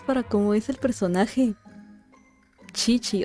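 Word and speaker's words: Qiqi: Chichi. O sea, se pronuncia Kiki, pero es Chichi.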